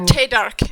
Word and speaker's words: Theydark: Or Theydark, actually. That's how you would say his last name. Got to do the correct pronunciation here that he would say.